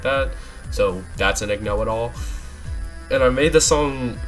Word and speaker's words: Igno-It-All: That's how you pronounce it, Igno-It-All.